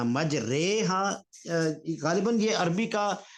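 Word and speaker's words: مجرىٰ: ہیں۔ اچھا پروفیسر صاحب، یہاں کہتے یہ ہیں کہ قرات میں اس کو مجری نہیں پڑھنا، مجرے، ہاں غالباً یہ عربی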